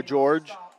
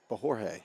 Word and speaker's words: Jorge: blockers Montoya and who's by George and gaining some nice yards it's Jorge yeah pronounce it wrong I apologize that's okay